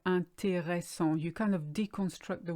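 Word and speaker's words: intéressant: it's usually really mispronounced people say either an taeho song or anti song just like in English you skip the middle or a yes you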